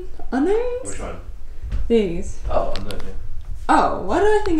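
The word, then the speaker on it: Unown: Oh, unknown. Oh, why did I think it didn't have a K in it? It doesn't, that's not my spell there, but it's pronounced unknown.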